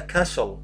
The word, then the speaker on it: castle: This is a castle, not castle. The T is silent.